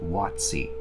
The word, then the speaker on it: WotC: coast by the way when you see it spelled like that WotC that is actually pronounced wattsy within the company they